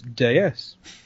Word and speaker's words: DS: classics but did you know that the French pronunciation of des is deus which means goddess i'm going to get a